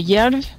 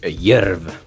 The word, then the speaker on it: Djerv: Il vaut mieux dire aux gens parce que en général, on est assez surpris de la prononciation vis-à-vis de ce qu'il y a écrit quand c'est du norvégien. Donc ça s'écrit DJERV, mais de toute façon on mettra les links.